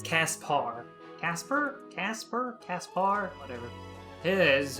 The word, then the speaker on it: Caspar: is caspar i keep i want to say his name's gaspard but it's caspar casper casper caspar whatever